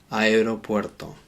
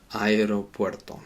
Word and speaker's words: aeropuerto: In Spanish, we do have to pronounce both of those vowels separately. Aero, aeropuerto, aeropuerto.